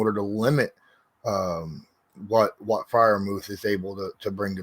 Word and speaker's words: Freiermuth: Freiermuth?